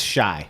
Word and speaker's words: Chi: It's The Chai, which is, I believe that's how it's pronounced. It's about Chicago. It's Shy.